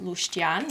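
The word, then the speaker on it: leuștean: got some packet seasonings so this one is pronounced lustian in romanian yeah pretty well translates to the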